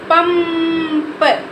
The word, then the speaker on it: पंप: हमारा तो क्या होगा इसको हम क्या पढ़ेंगे पम प इसको इसके बीच में हम इसको आधा म पढ़ेंगे क्या पढ़ेंगे पंप आधा म पढ़ेंगे तो उसको क्या पढ़ेंगे पंप पंप अभ ये देखो संग